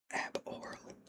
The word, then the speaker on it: aboral: We have next aboral which is um aboral. Aboral. Okay. So there's still supposed to be a stress accent or a stress syllable is with the o.